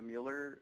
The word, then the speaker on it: Mueller: be familiar with like the the Mueller neighborhood in Austin or or Miller neighborhood I guess as it's pronounced I you know they've